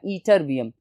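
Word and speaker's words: ytterbium: ठीक है students, YTT से इसकी स्पेलिंग शुरू होगी लेकिन प्रोनाउंसिएशन इसकी है ईट्रियम, और उसके साथ एक और एलिमेंट था ईटरबियम, YTER।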